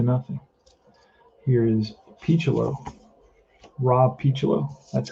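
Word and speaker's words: Picciolo: it one to nothing here is picholo rob pichulo that's how you pronounce his name here's the pitch from morris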